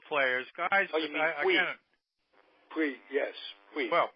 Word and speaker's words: Puig: I'll tell you, speaking of the Dodgers, a guy who seems to be coming into his own is Pujols. I'm sure I'm not even pronouncing that right, but the kid from Cuba is rounding.